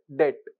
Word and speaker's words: debt: you call it as debt it is just d e t like the pronunciation is DET B is silent which is called as